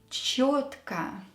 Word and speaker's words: чётко: Чётко. Just remember, when you see a yo letter in a word, it is always stressed.